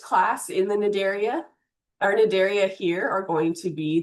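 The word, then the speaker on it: Cnidaria: You don't pronounce the C by the way. So this is nidaria and these are nidtoytes.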